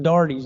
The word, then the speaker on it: Darety: go back to the Dartys, Darty, and why he would add an E and still pronounce it Darty, I don't know.